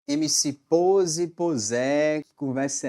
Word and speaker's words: MC Poze: MC POS, tá? É assim que se pronuncia.